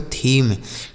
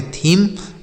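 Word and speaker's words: theme: आगे लिखा है टी एच ई एम ई इसे पढ़ेंगे बच्चों। थीम। टी एच ई एम ई इसे पढ़ेंगे थीम।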